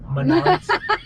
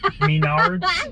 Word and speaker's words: Menards: Menards. Menards. It's the way you pronounce it.